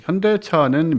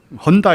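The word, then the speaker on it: Hyundai: 로 나옵니다 4 이제 요 헌다 이라고 발음 하셔서 당신은 미국엔 들은 헌다 이라 그러고 영국의 들어 하련다 이라고 해요 느끼게 현대 라고 발음한 좋은 아무도 없습니다 4 근데 그렇게 놀림을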